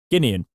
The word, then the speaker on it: Guinean: say it wrong however i've said it right guinean however it remains to be seen whether things